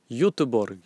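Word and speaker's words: Göteborg: demande si cétait à godborg en 2004 du coup moi tu étais peut-être pas déjà dans ton aventure suédoise mais prononce Ybor yborg au passage c'est pierreluigi Colina onance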